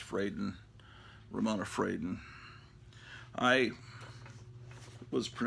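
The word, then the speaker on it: Fradon: metamorpho great artist Ramona fredon or actually I think it's actually pronounced frayden Ramona frieden I was I've always pronounced it in my mind like it's a Spanish name and say fredon but it's frightened she's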